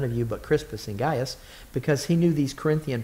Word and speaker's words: Gaius: said but crispus and gaius um lest any and that word guys is pronounced differently if you pronounce it correctly but that's okay lest